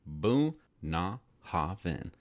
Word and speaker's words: Bunnahabhain: The haven of Bunnahabhain, pronounced Bunnahabhain, and meaning mouth of the river.